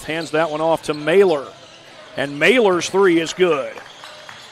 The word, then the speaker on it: Mailer: My apologies, I had said Mahler earlier in the broadcast. I've been told that it's actually pronounced Mailer, as Kunert misses off the glass, and back the other way comes Team Deming.